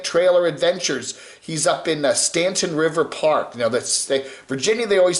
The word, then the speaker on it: Stanton: He's up in Stanton River Park. Virginia, they always spell it Staunton, Staunton, but it's Stanton, up there in Shenandoah Valley.